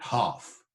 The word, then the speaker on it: half: And the younger son, hath in the ram his half, the L pronounced, not half, as it is today.